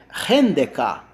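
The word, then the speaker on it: ἕνδεκα: Como é que eu pronuncio 11? Tá? Em grego. Rendeka. Rendeka. Ren é o numeral 1.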